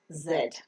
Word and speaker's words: Z: the English alphabet is Zed the normal British pronunciation is said and the American pronunciation is z the pronunciation the phonic